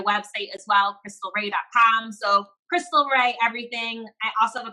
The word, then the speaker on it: Khrystle Rea: So Instagram, Khrystle Rea. My name is spelled crazy complicated. KHRYSTLEREA. Sounds like Khrystle Rea. It's Khrystle Rea.